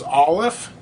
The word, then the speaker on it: Aleph: It actually is a silent letter, so it doesn't make a noise at all.